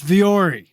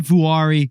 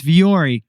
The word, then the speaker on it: Vuori: do you pronounce it it's vori it's not Vari or VII it's viori which is nothing like it spelled and it's finnished for